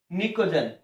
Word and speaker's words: pnicogen: वर्ग 15 के तत्वों को अपने निकोजन कहते हैं, निकोजन। ये स्पेलिंग होती है इसकी, PNICOGEN, निकोजन कहते हैं।